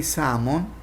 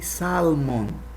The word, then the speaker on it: salmon: so when I say salmon don't say Salman the L is silent letter here so don't say some